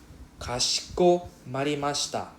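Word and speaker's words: かしこまりました: Kashiko marimashita. Can pronounce after me, Kashiko.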